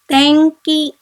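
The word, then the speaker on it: 天気: Now we here have ki after n, and so we have to pronounce this word as tanki, tanki, which means weather.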